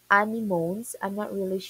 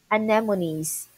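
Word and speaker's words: anemones: look at the sea animones if this is how you pronounce let me try to chat. Okay. Ah animony sorry so we say anemonies.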